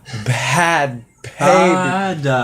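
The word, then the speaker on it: Bhad Bhabie: So anyway, but I pronounce it now. Bad baby.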